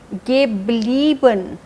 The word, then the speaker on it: geblieben: EI change हो रहा है IE में, इसीलिए उसकी प्रोनाउंसिएशन भी चेंज हो रही है. geblieben, bleiben, geblieben.